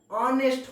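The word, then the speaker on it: honest: क्योंकि इसका जो प्रोनाउंसिएशन हो रहा है ऑनेस्ट हो रहा है, ठीक है।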